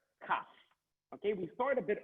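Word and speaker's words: כף: It's called a letter Kaf. Now, that's Kaf. Please pronounce 5 times.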